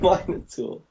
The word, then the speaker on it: Minotaur: The Minotaur. There's Minotaurs. The Minotaur. Minotaur. It's the Minotaur.